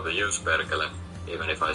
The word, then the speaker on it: Perkele: Perkele is pronounced like you were in a wild amusement park.